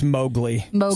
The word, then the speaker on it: Mowgli: saying it's not a guarantee Erin says it's mobli I'm saying it wrong oh yeah you know